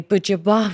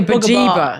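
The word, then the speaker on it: Buġibba: I was in, I'm going to say Bujaba, but everyone like laughs at me the way I say it. Why? I don't know. Everyone at work. How do you say it? Bajibba? Bujaba. I just say Because British people say bajiba. I think they don't say bugaba.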